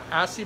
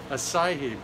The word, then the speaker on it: acai: The is that Aki berry? How do you pronounce that? Acai berry.